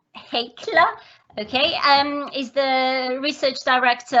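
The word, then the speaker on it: Heikkilä: Have I pronounced it properly? Yes. Yes. How do you say it? Heikkila. Heikkila.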